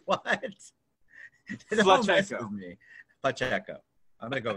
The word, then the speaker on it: Pacheco: It's actually Pacheco. It's what? Pacheco.